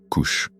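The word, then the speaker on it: כוש: En hébreu, il s'écrit VSH prononcé couche.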